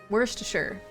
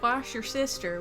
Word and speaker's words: Worcestershire: Worcestershire. Worcestershire. Not wash your sister, Worcestershire.